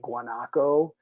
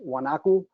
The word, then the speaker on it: guanaco: so this is a guanacu they pronounce it differently in different places but if i guess in english it would be guanaco the pronunciation down there is wanaku and uh this is